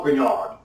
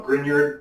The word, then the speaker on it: Grignard: an experiment performed by a Frenchman named Francois Renard so Americans call him grignard because we pronounce everything and what he did